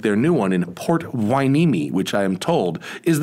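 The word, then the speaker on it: Port Hueneme: official retail locations like their new one in port wineme which i am told is the correct pronunciation if you're not in california or even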